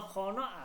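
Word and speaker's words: خانه: লেখাতে হে আসছে কিন্তু উচ্চারণে হে আসে নাই, ঠিক আছে, উচ্চারণ হয় নাই হে।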